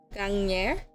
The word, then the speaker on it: gagner: Then we have the sound, soel, soel, soel. Sounds like onyo. So like these notes are really helpful for me, so I actually do remember the pronunciation. So this is pronounced gagner. The R sound, the bane